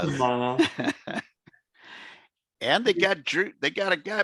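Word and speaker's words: Uzomah: Usama or Uzama, yeah. Uzama.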